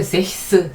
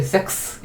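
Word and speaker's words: sechs: 히 이렇게 돼야 됩니다 그런데 세스 세스 그러면은 굉장히 발음 아가 어렵고 어 아주 자연스럽게 섹스 이렇게 되 버리죠 그래서 S 하는 하는 크스 영어의 와 같은 그런 발음이 자연스럽게 됩니다 그래서 스 이렇게 된다는 거 자 그다음에 또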